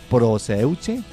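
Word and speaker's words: προσευχή: Bueno, esa palabra se escribe con S, así como suena, proseuche.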